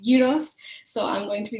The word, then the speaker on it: gyros: yos for you um some people may know them as gyos or Gyros but my Greek best friend always tells me they pronounced gyos so I'm going to